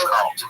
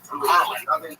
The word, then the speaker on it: Carlin: of all time George Carlton. You might know him as George Carl Carlin, but I can't even say it right anymore because that's how redacted I am.